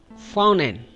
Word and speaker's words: fountain: We put stress over the N sound, fountain, like mountain.